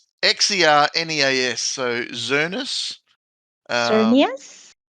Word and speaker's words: Xerneas: This is your question now because I can't pronounce that. It's Xerneas. So Zernus. Cernius? Zernius.